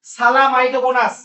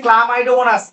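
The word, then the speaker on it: Chlamydomonas: কতগুলো এককোষী সুকেন্দ্রিক জীবে, যেমন সালামাইটোগোনাস, আসলে উচ্চারণ হচ্ছে ক্লামাইডোমোনাস।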